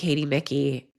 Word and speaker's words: Micky: for everyone listening, Micky did I pronounce the last name correctly?